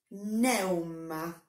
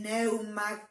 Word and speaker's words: pneuma: respira el negro cósmico pneuma lo van a encontrar escrito con una p adelante del aire la euwma no se pronuncia así pero se nos